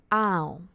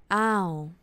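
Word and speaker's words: อ้าว: disappointed a little bit you will say ow like kind of low tone edge long sound ow or like people can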